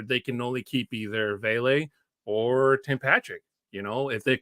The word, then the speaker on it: Vele: Hey, yo, it's Vele, bro. Vele. I keep mispronouncing it.